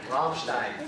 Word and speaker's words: Ramstein: And after graduating high school in Ramstein, is that how you say it? Ramstein, Germany. What was that? Rammstein.